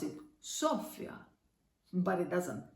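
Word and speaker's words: Σοφία: If it had an accent on O, we would pronounce it Sophia, but it doesn't.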